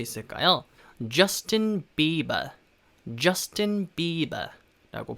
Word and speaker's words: Justin: Justin Bieber 라고 발음합니다. 그래서 일단 이름 같은 경우에는 Justin 저스틴하고 조금 다른 느낌이죠. Justin 그 J 발음을 좀 살려서요, Justin 이라고 발음하시면 되고요, 뒤에 Bieber 같은 경우에는 Bieber 라고 발음하시면 됩니다.